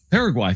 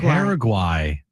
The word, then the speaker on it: Paraguay: Paraguay. Thank you. Paraguay. I mean, were we really going to trust Jim on the pronunciation when he missed the continent?